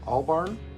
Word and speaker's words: Albarn: with Damon uh Albarn that's why I said it right damn it all Barn because when you look at it with that R and the end it looks like an m so I've been saying it wrong for a while but uh David